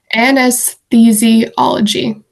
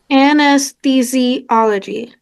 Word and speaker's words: anesthesiology: I can't pronounce it. Anesthesiology. Anesthesiology.